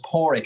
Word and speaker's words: Padraic: But it's Padraic. I always say a dog's paw and a rickshaw, so Padraic is the best way to say it.